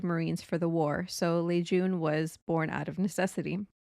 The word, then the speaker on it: Lejeune: Camp Lejeune, pronounced Lejeune, not Lejeune.